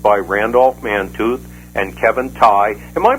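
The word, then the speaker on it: Tighe: many persons influenced by Randolph Mantooth and Kevin Ty. Am I pronounced his name right? It was Ty. Absolutely. Yeah. Ty.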